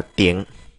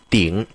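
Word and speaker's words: 顶: đỉnh là trên cùng chúng ta có thể đọc y như chữ tỉnh của tiếng Việt Chúng ta đọc là tiểng thực ra chữ tỉnh này đọc nó cũng không không chính xác lắm đâu nhá Nó phải là đọc là tỉng tỉng có nghĩa là trên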